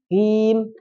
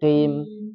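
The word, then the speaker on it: مستقيم: Dikata mustaqim, kim, di mat arid disukun tadi, dia bacanya Q. Ihdinas siratal mustaqim. Jadi terkesannya bukan I ya, Ki, tapi Qim.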